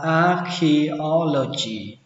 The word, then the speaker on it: archaeology: Khảo cổ học đọc là archaeology. Âm đây là âm chờ, nhưng mà khi đọc là âm khờ.